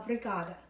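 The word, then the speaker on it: obrigada: how you say thank you in Brazil uh brigada that is the antidote for Brazilian lemonade and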